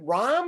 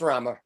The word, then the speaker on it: Rama: the person asked again so is it ram or rama it's rama it's just you know sure